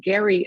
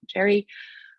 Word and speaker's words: Gerry: think at the time the name was actually pronounced gary and not jerry um that's how it